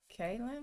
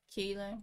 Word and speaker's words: Keelan: Kaylin? Is that how you say it? Kaylin or Keelan? Keelan.